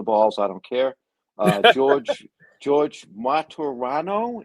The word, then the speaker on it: Martorano: George Martorano, is that correct? Yeah, 3 syllables. Martorano, yes.